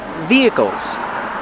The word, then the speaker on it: vehicles: Pronunciation vehicles. Vehicles. The H is silent. We do not say vehicles. It's via v.